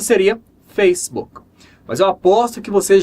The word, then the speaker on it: Facebook: disso é essa palavra aqui essa palavra a pronúncia correta é facebook facebook então essa palavra é a junção de duas